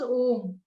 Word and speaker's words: Om: in the universe was om and it has like three syllables so a represents a represents the waking State or the beginning oh U represents the dream state or the middle and M States a deep sleep State on the n